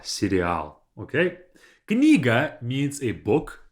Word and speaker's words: сериал: Like the things that you eat, but the pronunciation is going to be a bit different. The stress would be a bit different. We say serial. So don't say cereal, because then you'll be misunderstood.